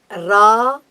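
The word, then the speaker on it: राहु: Rahu. Rahu. That's a correct pronunciation. Okay. Ra, it's a dirgha letter, what we call the long letter. Rahu.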